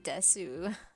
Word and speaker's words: desu: That one's weird because that's how it is phonetically spelt, but they don't pronounce it. They just pronounce it des usually. How do you say it? Desu? Just des. Oh, just des? Like no. Yeah, the U is kind of silent as far as I'm concerned.